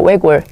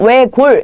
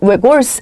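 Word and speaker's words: 외곬: 외골 뭔가 한쪽으로 파고드는 그런 성격이 있는데 우리 외골수라고 하잖아요. 거기 보시게 되면 외골 얘는 외골스 아니고요. 외골입니다. 외골 리을로 발음하셔야 됩니다.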